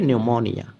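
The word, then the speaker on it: pneumonia: এভাবে যদি মনে রাখেন তাহলে আমরা মনে রাখবো উচ্চারণটা হবে নিউমোনিয়া time has change and সো এরপরে আমরা যেটি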